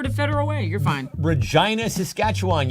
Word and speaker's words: Regina: Regina, Saskatchewan. Yes, we rhyme with vagina.